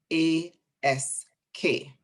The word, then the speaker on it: ask: you pronounce the word a s k because i pronounced it ask and she said it sounded as if you were saying a x e and i couldn't focus